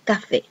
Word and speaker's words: café: palabra aguda, recordemos que las palabras agudas son aquellas en que la voz se carga en la última sílaba. Entonces, un ejemplo de palabra aguda es la palabra café.